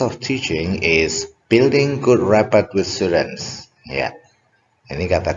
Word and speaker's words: rapport: bukan merupakan rapport building activity adalah, nah ini bacanya rapport ya, rapport building activity itu kegiatan yang digunakan untuk membangun ya kedekatan dengan siswa.